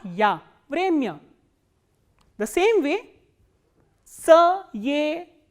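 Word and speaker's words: время: The sound of ya becomes ya when ya comes in an unstressed position, like in where, ra, ye, ma, ya. Vremya. Vremya is time.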